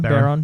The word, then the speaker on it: Barone: So the creator and developer Baron, is that how you pronounce his last name? Baron.